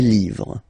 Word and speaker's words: livres: Okay, les, and then same rule, you just write livre, and then you put s at the end, but then you don't pronounce it. Les livres, le livre, les livres.